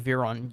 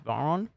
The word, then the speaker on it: Veyron: like completely different compared to how an Australian says it. Like Bugatti Veyron, you guys go Bugatti Veyron. Yeah. How do you say it again? Bugatti Veyron. I say Veyron for Yeah, some reason. I think it's just different in America compared to Australia.